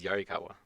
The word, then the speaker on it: Yarikawa: but that's all right the pronunciation is yarikawa i apparently just completely